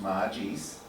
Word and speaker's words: magis: So, magis, pronounced magis, is a Latin word that means more or better.